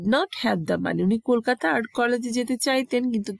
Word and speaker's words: কলকাতা: তো ক্যালকাটা আসলে বাংলা ভাষাভাষীর লোকরা ক্যালকাটা বলে না, বিদেশি উচ্চারণে ওদের কলকাতা বলতে কষ্ট হতো বলে ওরা কলকাতাটা উচ্চারণ করতে পারে না, ক্যালকাটা বলতো, সেটাই ওরা লিখতো এভাবে ব্রিটিশ পিরিয়ডে।